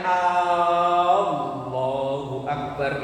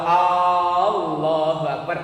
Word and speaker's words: Allahu Akbar: Tapi kalau A-nya yang dipanjangin, ini salah besar. Kenapa? Karena di situ A yang dibaca panjang itu mengandung huruf istifham. Istifham itu huruf bertanya. Kalau ia membacanya Allahu Akbar, itu kalau diterjemahkan bukan Allah Maha Besar, bukan. Tapi kalau Allahu Akbar artinya apakah benar Allah itu Maha Besar kalau A-nya dipanjangkan. Ini biasanya kalau takbiran ini,